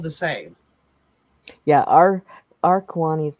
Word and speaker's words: Kiowa: Kiowa? That's not how you say it, but okay. I know what you're talking about. Well, how do you say it? It's Kiwani.